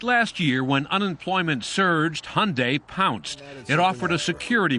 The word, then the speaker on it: Hyundai: It's Hyundai, like Sunday. We hear Hyundai, Hyundai.